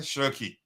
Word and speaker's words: Cherki: And by the way, Martin, did I pronounce it correctly? Cherki.